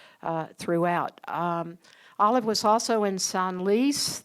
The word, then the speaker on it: Senlis: Olive was also in Senlis. The S is pronounced.